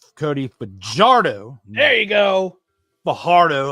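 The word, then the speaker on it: Fajardo: I mean, I'll say his name right, Cody Bardo.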